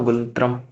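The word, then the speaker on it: ngultrum: Last है भूटान, भूटान की क्या है, एन साइलेंट में कर लो सीधा गुलत्रम।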